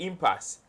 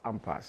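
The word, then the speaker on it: impasse: involved and hopes the impass will be resolved in the near future. That word is pronounced ampass.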